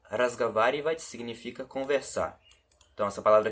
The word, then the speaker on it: разговаривать: Aqui tem um O, mas ele tem um som de A, tá? Então aqui está escrito разговаривать, só que a gente pronuncia разговаривать, como se esse O aqui fosse um A.